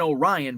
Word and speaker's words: Orion: you're familiar with Orion's Belt we have an Orion but it's pronounced Orion uh if you're familiar with France